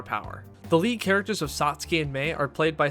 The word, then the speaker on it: Satsuki: Satsuki is pronounced more like in Japanese with the whispered tsu sound.